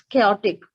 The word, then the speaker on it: chaotic: I think it's not chaotic, it's chaotic. Yes, Devesh, chaotic.